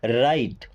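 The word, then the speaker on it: write: राइट। राइट की spelling W आर आई टी E. Okay? यहां पे डब्ल्यू साइलेंट होता है।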